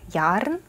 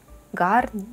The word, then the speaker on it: Garn: у нас BC garn Я вообще думала что произносится так но Судя по произношению других девочек кашле произносится как ярн гарн ярн не знаю в общем